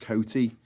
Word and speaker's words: Coty: Coty is pronounced Coty, says One Eyed Pagan.